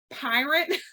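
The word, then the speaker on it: Pyrt: it is called and it's p-y-r-t pronounced pirate like I'm about to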